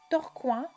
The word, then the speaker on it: Tourcoing: torconge la prononciation a changé en pi on prononce torcoin et tourco en 1214 quelques années avant la